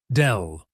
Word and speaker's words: del: It is written as a downward-pointing triangle and pronounced as del.